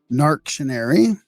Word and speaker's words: Narc.tion.ar.y: Narc.Tion.Ary. I guess that's how you would pronounce it, right? Yep, that's perfect.